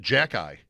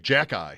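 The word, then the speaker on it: Xhekaj: His name, they pronounce it Jack Eye. Yes. Every time I hear it, I think somebody is starting to say Jack Eichel. I'm not yet conditioned to Jack Eye.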